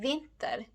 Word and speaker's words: vinter: For instance, in vinter, the first part, vin, is louder and longer than the ending.